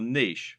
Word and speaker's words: niche: correct internet business parlance what is your Niche or niche as some people pronounce it a niche is